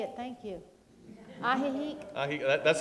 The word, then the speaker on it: Ajijic: It's Ajijic. Ajijic. Okay, well, Franny's the arbiter of this, and it's Ajijic.